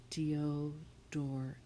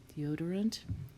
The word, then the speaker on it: deodorant: And this is a schwa, or an unstressed syllable, so the OR is saying deodorant. So if I'm teaching someone to spell this, I would overemphasize the or, and we would think to spell deodorant. And if you say it like that, you'll remember that it's a OR, deodorant, deodorant.